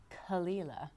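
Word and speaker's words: Caol Ila: So it is actually Kalila. Kalila. I feel like again I need to do a little lift, a little raise.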